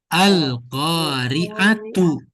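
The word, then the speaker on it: القارعة: Jadi misalkan Al-Qari'ah. Nah, apa tuh? Kan kita bacanya Al-Qari'ah. Sebetulnya itu Al-Qari'atu.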